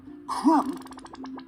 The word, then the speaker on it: crumb: sorry about that anyway crumb has a bee in it which we honestly believe was just popped in there about 300 years ago by someone who thought it would match up with the other mb ending words like thumb dumb and numb i always remember the